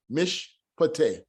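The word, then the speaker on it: מִשְׁפָּט: So this joins this syllable together, mish, mish, mish, meaning it's silent. Mish, pate.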